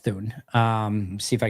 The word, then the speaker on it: Thune: I just pronounced Thune like moon, not Thune with a th sound.